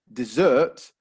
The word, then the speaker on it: dessert: the the first word then the stress would actually be on the first syllable desert that's a place uh in egypt or in in africa or you know in parts of the world where there's lots of sand desert however if we stress the second syllable dessert then suddenly we have